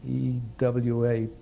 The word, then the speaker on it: Ewa: Well, we went over to the Marine Air Corps Station at Ewa, E-W-A, pronounced Ewa, and waiting to be assigned to some kind of a squadron.